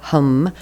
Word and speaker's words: ham: creation and then hum spelled h a m but pronounced with a short a so hum that is the seed